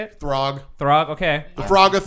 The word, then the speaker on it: Throg: Throg.